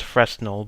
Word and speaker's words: Fresnel: I know it says Fresnel, but apparently it's a French word and it's pronounced Fresnel.